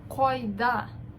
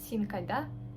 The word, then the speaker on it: кайда: Тут у нас к как бы твердое такое. Ко. Как будто ты хочешь рвать. Син, ты где? Койда. Койда. Ударение последнее слово. Койда. Кой. Мы тянем. Если бы на русском читали, то получилось бы так синкайда.